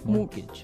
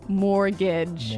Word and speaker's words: mortgage: with a t yeah it has a t in it but you don't pronounce it you say mortgage morgage so not Mort mortgage not mortgage morgage morgage yeah I had